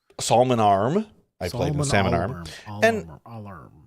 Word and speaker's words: Salmon Arm: beautiful beautiful town of Salmon Arm Salon arm Salmon Arm you don't pronounce the L ever Salman arm I play Sal AR